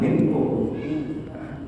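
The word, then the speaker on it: منكم: Minkum, jadi suaranya itu antara M ke G. Minkum, jadi antara M ke G, antara suara tapi belum sampai, hampir ke K, hampir menuju K, tapi K-nya baru minkum.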